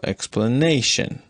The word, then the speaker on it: explanation: set but explanation explanation is a four syllable word so it is marked plus stress on both the first X the first and the third syllable explanation and plus stress on